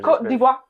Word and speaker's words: Côte d'Ivoire: Côte d'Ivoire.